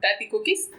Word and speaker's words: Tati Cookies: Pues son 2 palabras, pero se pronuncia todo corrido. Tati Cookies.